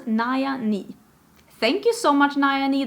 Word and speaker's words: Nayani: It says pronounce Naya Ni.